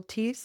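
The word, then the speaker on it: Theise: Well, may I ask you, since I just listened to your interview with Neil Teese, is that how you Yes. pronounce it? Peace. Yeah, Neil. Teese, Mr.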